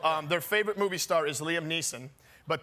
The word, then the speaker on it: Liam Neeson: So their favorite movie star is Liam Neeson, but they call him Liam Neeson's. They also are big fans of Robert Downey Jr.'s.